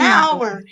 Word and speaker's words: hour: a user what about hour and hour a hour an hour is the same um same thing that happens with honest right the h is silent and you're finished unusual